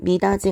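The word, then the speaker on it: 미닫이: 자, 여러분 미다지 같은 경우는 디귿이 올라가서 미다디 디귿타 이 모음하고 만나서 미다지라고 발음을 하게 됐죠.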